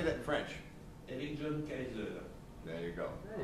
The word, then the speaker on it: Eric John Kaiser: Eligion Kaiser.